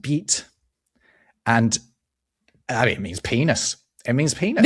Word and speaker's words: bite: Bite bite in French is pronounced beat.